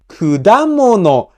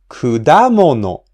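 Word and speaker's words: 果物: Kudamono has the accent on the second mora, da. So we pronounce the second mora at a higher pitch. Kudamono, kudamono.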